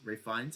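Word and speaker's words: Ralph Fiennes: fan of Ray FES Ray FES and that's that's actually how you say his name he's part of the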